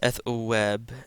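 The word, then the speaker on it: ⲉⲑⲟⲩⲁⲃ: So the epsilon is going to take kind of a W sound in this case. Again the vita ends the word. So it's going to be pronounced like the letter B and not V. So this is eth web. Eth web. Again the theta and the theta is pronounced with a hard th.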